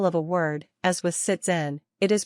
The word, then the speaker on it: sitzen: like an English s when the letter s appears in front of a vowel you need to pronounce the German consonant s like you would pronounce the English Z thus the S at the start of the word siten should be pronounced like an English Z the German Sound Z